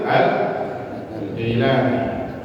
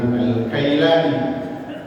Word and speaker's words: Al-Jailani: Syekh Abdul Qadir Al-Jailani, ada yang membacanya dengan Al-Kailani karena ada satu daerah tidak bisa mengucapkan huruf jim sehingga dia mengucapkan dengan diganti dengan kaf ya, asalnya Al-Jailani, tapi ada satu negeri yang nggak bisa mengucapkan huruf jim, dia bacanya kaf, bukan Al-Jailani tapi Al-Kailani.